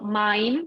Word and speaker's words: mein: So mein, this E and I is pronounced A.